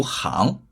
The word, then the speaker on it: 行: 行就是一个十字路口，行有两个读音，表示道路的时候读行，表示行走的时候读行。